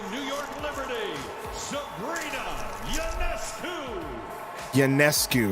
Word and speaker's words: Ionescu: Ionescu is how you say your name.